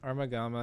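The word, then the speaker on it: Armogohma: it up because I couldn't remember how to pronounce it armagamma it just kind of felt like the beginner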